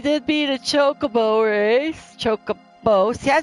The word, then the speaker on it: Chocobo: Chocobo.